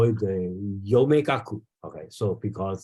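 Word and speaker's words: 陽明学: I think even today, as in Japan they call it the Yomegaku. Okay, so because they just pronounce the Yangming in Japanese pronunciation called Yome.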